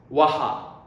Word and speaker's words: は: Okay, now I'm telling you when we pronounce wa, it's written ha, but we pronounce wa, okay?